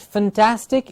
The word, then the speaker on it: fantastic: please remember please remember we have to say the word fantastic with the clear a sound fan and task it's not fantastic it's not fun it's